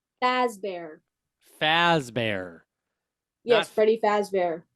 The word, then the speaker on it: Fazbear: But Freddy Fazbear's Pizzeria, that's Fast the Bear. Fazbear.